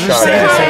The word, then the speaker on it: Sade: next joke and I don't know how to pronounce it but if Sade sings in the forest Sade yes great if shot a C's in the